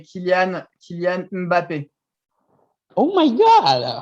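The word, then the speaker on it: Mbappé: You the pronounce of the M, you just say Mm. Mbappe. Mbappe. Oh my God! I got it. I got it. It's kind of like the NG sound in our dialect.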